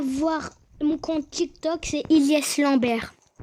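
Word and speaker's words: Hilyes: Vous avez qu'à voir mon compte TikTok, c'est Ilyes Lambert. Par contre, Ilyes, ça s'écrit pas comme vous le savez. Vous. Ok? Ça s'écrit H-I-L-Y-E-S.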